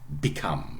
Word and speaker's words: become: This is why I have to refer to that in words like become. Yeah, stress is on the second syllable.